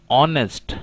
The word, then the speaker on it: honest: The first letter is H, which is silent here. We can pronounce is honest, not honest.